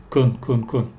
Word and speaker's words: can: Y en ese caso voy a pronunciar can más fuerte. Can. Pero generalmente no lo voy a decir can. Voy a decir I can speak Spanish. Kun. Reducido.